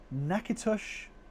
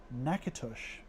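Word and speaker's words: Natchitoches: Oh, thank you for putting the pronunciation there. Nakitush, Louisiana is pretty. Nakitush. Okay. You learn something new every day.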